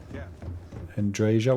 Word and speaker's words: Andreja: I thought it was Andrea, but Andreja works for me.